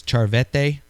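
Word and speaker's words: Cerveteri: So he writes the word I think it's charvete. That's how they pronounce it.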